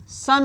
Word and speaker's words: son: दोनों का प्रोनाउंसिएशन मेरे स्टूडेंट्स सन होता है ना। SON का मतलब ही सन, प्रोनाउंसिएशन सन करते हैं, जिसका इंग्लिश होता है,